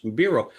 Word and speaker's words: Biro: So anytime Suzanne's on something giving her website and she says, "Hey, it's Suzanne Bureau."